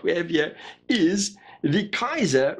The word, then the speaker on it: Kizer: have here is the kaiser raja raja as in an indian monarch kaiser as in a german emperor i know i know it's spelt differently never mind that so